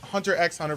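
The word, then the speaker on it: Hunter × Hunter: only to this but hunter hunter or Hunter x Hunter for some of you who pronounce the X I personally don't but hunter hunter has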